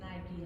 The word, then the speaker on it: Nike: but we don't pronounce Nikkei, we pronounce it Nike, like Nike tennis shoes.